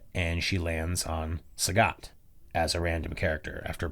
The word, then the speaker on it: Sagat: transitions looking at them she doesn't pronounce sagat the way that i'm pronouncing sagat like a like someone who's heard the word yes she pronounces it sagitt amazing which would be